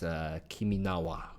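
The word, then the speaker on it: 君の名は: Although I believe in Japanese it's Kiminawa.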